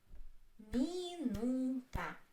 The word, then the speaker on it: минута: Minuta. Three. Minuta. Minuta. The stress is on U.